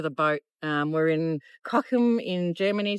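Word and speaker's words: Cochem: Um, we're in Cockum in Germany. C O C H E M is how it's spelled.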